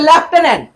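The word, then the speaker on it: lieutenant: যদিও এটা মানে টিক্সটা জানলে সহজ সেটা হচ্ছে লেফটেনেন্ট লেফটেন্ট কে মারবা কে কে মারবা লেফটেন্ট ওকে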